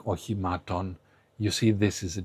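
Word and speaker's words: οχημάτων: Again, you see both O's, which are pronounced the same. You see another E, which is the eta. It's an E, just like isodos. So all these E's are pronounced exactly the same. So you have ochimaton. And ochimaton, ochima, is a vehicle.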